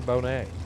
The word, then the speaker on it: Bonnet: Megan Bonet. Like Lisa Bonet, but it's spelled Bonnet.